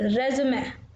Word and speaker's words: résumé: So in French we pronounce E as A, not E. So that's why we call it resume.